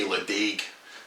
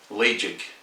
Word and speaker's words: Ledaig: word and they say Ledaig. I've got a wee way of helping you pronounce it correctly, and if you think of lay, L-A-Y, and then it's between jig and jag, so it's jig, Ledaig.